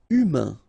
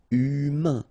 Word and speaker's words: humain: Humain, remember, H doesn't exist, so U, then A-I-N together, un. Humain, humain.